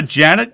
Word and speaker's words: Jeanette: It's spelled Jeanette, but she pronounced it Janet earlier.